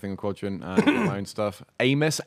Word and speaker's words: Amys: Amos, AMYS. That's how you spell it. Not Amis.